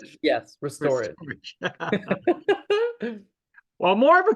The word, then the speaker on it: Restorage: How do you pronounce Restorage, yes, it? Restorage.